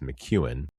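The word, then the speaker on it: McKeown: called Essentialism by Greg Mchuan. And if I remember correctly, Mchuan is spelled M C EO W N. I believe that looks like Mac. However, it's pronounced Mchuan.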